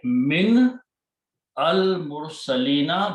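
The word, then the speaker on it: مِنَ الْمُرْسَلِينَ: Min al-mursalina, but when you read together, you do not pronounce alif here, but you put a fatha on this one, and you pronounce minal mursalina.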